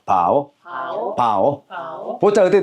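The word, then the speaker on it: 寶: 보자 발음은 어떻게 삼성입니다. 해 봐. 바오 바오 바오 바오 보자 어떻게 돼요?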